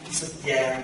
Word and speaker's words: xuất gia: These two words spell the same, only difference one accent. Xuất gia with this accent on the top. Xuất gia no accent, but two different life.